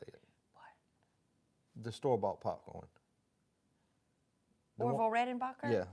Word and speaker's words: Orville Redenbacher: Orville Redenbacher? Yeah, say it again. Orville Redenbacher.